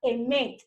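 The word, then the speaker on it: אמת: Es la palabra verdad, la palabra hebrea que se utiliza en las Escrituras es la palabra emet. Se escribe así. Es la fonética. Emet. E-M-E-T.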